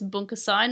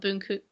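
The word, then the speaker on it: 文化祭: I think it's Bunkasai, not Bunku.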